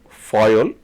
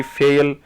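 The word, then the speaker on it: Fayol: Frederick Winslow Taylor Henry Foyle see the pronunciation is little different right so don't worry about the production Henry fail Henry foyel Henry fell right that's something that you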